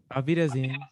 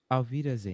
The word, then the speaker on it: Auf Wiedersehen: So Zan is like a verb that means to see, and then so Zan, and then Alvida is like I presume it's later.